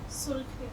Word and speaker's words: سرخے: سرخے، یہاں بھی خے کی آواز صحیح آنی چاہیے. کیا لفظ ہے یہ؟ سرخے.